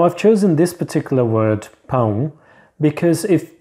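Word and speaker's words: pão: home boom now I've chosen this particular word poem because if mispronounced it can sound like owl which means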